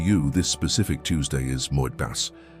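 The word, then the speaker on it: מועד: The word in Hebrew that describes exactly what is happening to you this specific Tuesday is moed. Pronounce it with me in a low voice.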